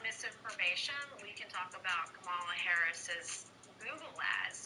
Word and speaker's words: Kamala: we can talk about Kamala Harris's Google ads, like literally taking headlines from mainstream media and rewriting them. It's She's like not giving First speeches. of all, it's not Kamala. It's Kamala.